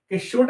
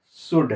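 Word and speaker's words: should: मैंने कहा था कि एल अगर डी के पहले आता है तो एल का उच्चारण नहीं करना है उच्चारण नहीं कर रहे ना तो क्या हो जाएगा शुड क्या होगा शुड ठीक है उसके बाद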